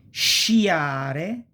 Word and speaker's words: sciare: And it's pronounced pretty much like cash, this sh sound, okay?